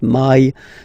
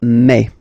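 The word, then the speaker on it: mai: really open E okay and then you pronounce it me me okay so don't pronounce e don't try to pronounce it no it's me me so it's not my it's me okay and then here well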